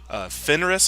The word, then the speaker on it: Fenris: Fenris, I think, is the name of the wolf.